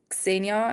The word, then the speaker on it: Xenia: no, like Canadians have a hard time to pronounce the X. It's like Didn't they I put just an E in front of the X, or they just say it with an S, but it's Xenia, and most Canadians say like Xenia or right?